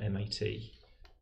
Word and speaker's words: MAT: Is it pronounced MAT or M-A-T? I always say MAT. I like that it forms a word, like step, and unlike Tamua. Okay.